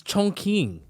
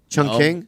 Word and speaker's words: Chongqing: It's Chongqing. Chungking? No, It's not Chong.